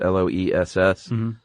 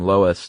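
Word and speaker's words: loess: Uh and there's actually a few ways to pronounce this. Les SS. Heard everything from lowest to lows to less. I like lowest. Yeah, I like Lois, too.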